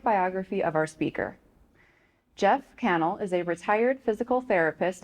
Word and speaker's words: Kannel: It is a pleasure to welcome author, educator, and historian Jeff Cannell. Correct. Yes. We did a little session on pronunciations before.